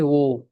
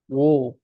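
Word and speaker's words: 我: ভাষায় বলা হয় হচ্ছে ও কি বলে ও উচ্চারণটা হচ্ছে ও ও ঠিক আছে ও এরকম এন্ড দেখবেন যে চাইনিজে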